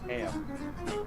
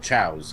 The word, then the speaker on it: Chao: Back when I played this game, I thought they were pronounced KO. Yeah. I never knew how they were. Yeah, why is it's the Chaos Emeralds, but the creatures are called chows?